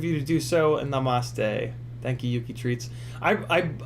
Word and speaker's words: namaste: And namaste. Thank you, Yuki Treats. I don't know why I like to pronounce it with the accent on the ma.